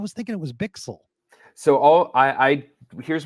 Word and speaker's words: Bichsel: have is that maybe the Swiss or even kind of German pronunciation really the the that pronunciation um for like a native speaker would be bixel something like that and you can you